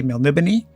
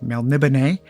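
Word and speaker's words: Melniboné: an older way that I used to say it which was melnimony but um however you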